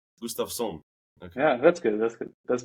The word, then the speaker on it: Gustavsson: Gustavsson. Gustavsson. Okay. Yeah, that's good. That's better. But you can say Gustavsson or Gustavsson. Or Gustavsson. I'm going to try it, yeah. That's a Swedish pronunciation.